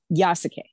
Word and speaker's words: Yasuke: i say it correctly yes k yeah okay yasuke so yasake the african samurai and this is